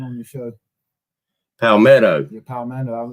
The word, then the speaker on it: Palmetto: I said it wrong. Yeah, that's it, man. I got correcting everybody on there. At night, I could not say his name right for nothing. I don't know what it was that night on the show. I kept saying Palomino.